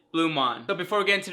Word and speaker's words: BluMaan: me in this video going back and forth between pronouncing it bluemon and blue man my apologies it took me a really long time to figure out how to properly pronounce it but it is blumon but before we get